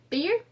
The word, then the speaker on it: Beer: Then they went to Beer. What? Yes, but the pronunciation would be more like Be'er.